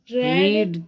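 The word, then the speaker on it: read: पढ़ना, रीड, तो इसका प्रोनाउंसिएशन रेड, द बुक।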